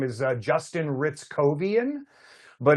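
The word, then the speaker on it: Hrycowian: Like if you look at it, you would want to say hair cowian, but he pronounces it Ritzovian.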